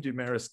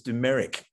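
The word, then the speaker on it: Dumaresq: look with demerisk i used to call him dumaris too but i was told by the former rare book librarian that it's dumerick in the same vein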